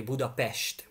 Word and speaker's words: Budapest: And if you see just an S in the Hungarian language, just like Budapest, that's called with an S, it is always pronounced as an Esh. So our capital city is actually Budapest.